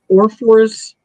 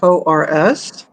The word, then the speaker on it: Orrefors: This is, I don't think I'm going to pronounce it correctly, Orrefors, Sweden. Oh, Orrefors, Sweden.